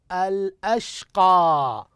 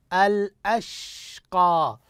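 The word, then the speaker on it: الأشقى: كلمه الاخرى انظروا اليها الاشقى الاشقى انتبهوا للحرف الساكن انتبهوا للحرف الساكن كيف ننطق الشين الساكنه كيف ننطق السين الشين الساكنه كيف ننطق الشين الساكنه هكذا احسنتم وبارك الله فيكم الاشقى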